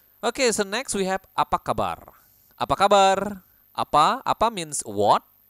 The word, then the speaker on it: apa kabar: course in Bahasa Indonesia you need to roll your Tong like in Spanish Oke so Apa kabar